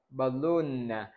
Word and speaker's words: balloon: Ví dụ tiếp theo chúng ta có là balloon. Chúng ta cũng sẽ không nhấn vào âm swa sao mà chúng ta nhấn âm tiết thứ 2.